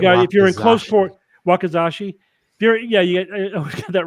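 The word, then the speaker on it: wakizashi: katana and then the I always get this name wrong a wakasaki or something Bas a shorter version of it which for indoor fighting basically yeah you're right if you're in close wakazashi you're yeah you got that wrong for some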